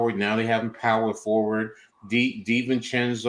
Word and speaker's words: DiVincenzo: DiVincenzo, or did I say his name right? Yeah, DiVincenzo. DiVincenzo, yeah.